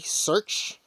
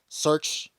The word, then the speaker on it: SRCH: with his pet dog AKA search and that's spelled s-r-c-h search K9 unit so again